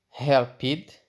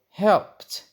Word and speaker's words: helped: is it or it do we say help it or helped of course it is helped so helped looked washed